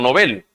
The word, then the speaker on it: Nobel: fundador de los premios nobel o novel como sería la pronunciación más correcta la historia del por